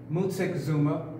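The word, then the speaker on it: Moctezuma: I go any further this is Montezuma but properly pronounced Musa Kazuma okay you see he's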